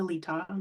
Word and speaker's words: Letaw: My name is Letaw. Most people call me. My last name rhymes with seesaw.